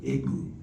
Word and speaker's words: Igbo: It's spelled I-G-B-O. And a lot of people say Igbo, but it's Igbo. So they say E and Boo, all right?